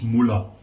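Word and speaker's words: Mühle: I said to him, Sven, how do you pronounce this word? And he said it's Muller.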